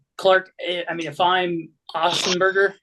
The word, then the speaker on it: Otzelberger: I mean, if I'm Ossenberger, right? That's how you pronounce it. Otzelberger, Yeah, if I'm him, I'm not sit risking him.